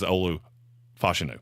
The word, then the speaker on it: Olu Fashanu: hear him say his name and it is Olu fashanu fenu okay and now that he's on my